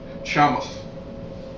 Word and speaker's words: Sheamus: he could beat Sheamus Shamus if he could beat Kane he could be Shamus that's how they say it are you are you